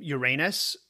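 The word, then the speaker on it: Ouranos: would become her mate we usually pronounce his name uranus but since i have the sense of humor of a fourteen year old i'm going to leave uranus alone and stick with uranus otherwise we'll never get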